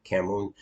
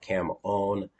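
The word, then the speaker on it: cảm ơn: sure she saw that from something thank you camon uh yes thank you okay uh that that one you're going to pick up quick thank you camon there's a few words that uh that I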